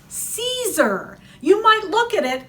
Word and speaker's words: Siser: for notions and it's Caesar you might look at it and think it's sizer sister all these other things that's si ser and it's pronounced Caesar because they're from Italy they've been making vinyls